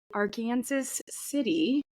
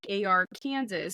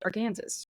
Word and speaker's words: Arkansas City: my turn today so we are going to our Kansas City in Kansas they call it Ark City it's spelled like AR Kansas so also Arkansas if one would see but it is pronounced our Kansas but they just Callen I just listened to